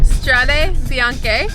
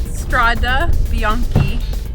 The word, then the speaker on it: Strade Bianche: Strade Bianche, and yeah, white roads. And before I used to pronounce it Strada Bianchi, but Letizia helped me.